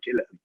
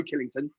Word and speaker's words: Killington: at killington uh always say killing with t.o.n written on the end because because i speak cockney i don't say my name properly i say killer okay which sounds like